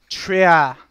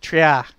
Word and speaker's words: Trier: Having already captured it, Trier is actually how you say it. Trier.